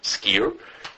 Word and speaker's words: skyr: It's called skier. Okay? It's spelled spelled s k y r. Okay? It's pronounced skier.